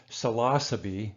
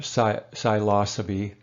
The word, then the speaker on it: psilocybin: similar to cannabis now the pronunciation of psilocybin mushrooms it's actually selasa be according to the proper Latin philosophy year or side Lhasa be or so we usually say psilocybin or Salafi but you know who